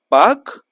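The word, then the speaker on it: Palk Strait: India Sri Lanka ma that is known as Park straet p a l k not p a k but pronunciation p a k Park stet the rhythmic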